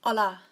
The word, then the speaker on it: hola: So to say hello, it's hola. So you miss the H out and it's just hola.